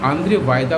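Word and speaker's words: Andrzej Wajda: आंद्रे वायदा हाल में death हुआ था, तो आंद्रे वायदा उसका उच्चारण है।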